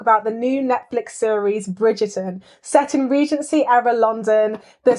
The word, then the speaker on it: Bridgerton: Bridgerton.